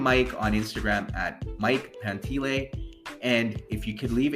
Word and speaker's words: Pantile: It's spelled Pantile, but it's pronounced Pantile.